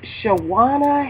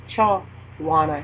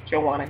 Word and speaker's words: Chawanya: the first up is shaana Hayes amen cha well it's actually pronounced chaan ha I keep saying sh as if it starts with the S but it's a c sh Chana hay Chana h and a lot